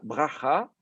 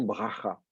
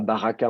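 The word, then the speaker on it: ברכה: Donc, on ne dit pas baraka, on dit baracha. Et par ailleurs, le premier A sous le bet va tomber parce que c'est l'antéprétonique.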